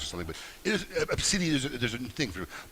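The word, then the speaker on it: Abcde: named A, B, C, D, E, which is pronounced Obsidi. Yep. What? Yes, it's pronounced Obsidi. Yep. Okay, and it's some Latin meaning. There's some meaning is either goddess or something, but it is Obsidi.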